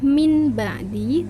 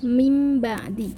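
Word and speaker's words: من بعد: membaca Min ba'di ini jadi memang tulisannya itu adalah mind-body tapi kita membacanya mimbadi merubah huruf Mbak menjadi huruf Mim Hai Meme Bang Ali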